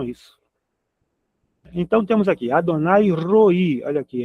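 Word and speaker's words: רֹעִי: R o ponto em cima que é o O aqui o A que não tem som. O hiric gadol, né? O i, o pontinho embaixo mais um iod. É. Então nós temos roi.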